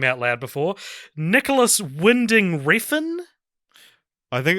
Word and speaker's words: Winding: Sorry, I was listening to a pronunciation of Nicholas Winding Refn. No. It is Winding.